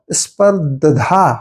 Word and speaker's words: स्पर्धा: ये गलत है वो होता है स्पर द ध स्पर्धा होता है ऐसा उसे पढ़ते हैं तेजी से स्पर्धा तो द के साथ